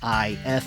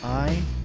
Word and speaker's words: Ifalna: Now, I can compare the different letters and discern that it is supposed to be an I-F-A-L-N-A, and it doesn't just have a random capital I in the middle.